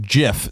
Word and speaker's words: GIF: It is a soft G pronounced GIF.